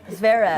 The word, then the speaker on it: Zverev: How do you pronounce his name? Zverev. Zverev.